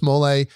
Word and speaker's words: mole: So people come to me and they say, what is mole? What is mole? People ask me. I'm like, no, it's mole.